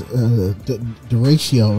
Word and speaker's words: derecho: It was derecho is how you say it now, but I couldn't even say it at first.